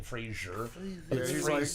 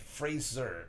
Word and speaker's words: Fraser: Fraser got the uh or Fraser I keep saying Frasier I did see a thing where he's like everybody says my name wrong yeah yeah like Fraser is his name but everyone's grandmother yeah